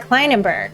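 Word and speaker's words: Klinenberg: think he means eric kleinenberg klein and berry i pronounce is that right correct yes i do in fact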